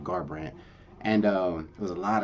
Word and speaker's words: Garbrandt: Yes, how you say his name, Garbrandt.